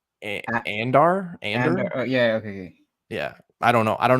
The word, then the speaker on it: Andor: So How do you pronounce it? Andor.